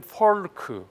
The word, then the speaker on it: Foulk: 자, 이 포크라는 사람에 대해서는 이제 계속 더 설명을 드리겠습니다만, 이 사람이 이름은 조지 크레이튼 포크인데 FOULK니까 이걸 영어식 발음으로 하면 폴크, 뭐 약간 여러 가지 표현이 있을 수 있는데요.